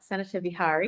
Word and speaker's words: Sanāthāvihārī: Sanāthāvihārī. Did I get it right? Sanāthāvihārī. Correct. Yes. It's the TA that I often get stumble over.